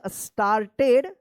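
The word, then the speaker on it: started: के बाद आर है, तो एक के बाद जब आर रहता है तो आ उच्चारण होता है, क्या पढ़ेंगे? स्टार्टेड, WAGGING, waging, waging, it's, ITS, इट्स, TAIL, क्या पढ़ेंगे इसको?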